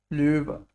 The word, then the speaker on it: Löwe: Yes, how do we pronounce this? Löwe. Ö. Löwe.